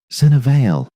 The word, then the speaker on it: Senna Vale: Senna Vale, the young woman said when Nell asked. She gave her own name with the slight front stress of Kethrani phonology, a settlement pronunciation sublevel 9.